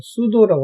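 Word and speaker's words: pseudo: 앞에 P자는 발음이 안 돼서 그냥 수도라고 합니다.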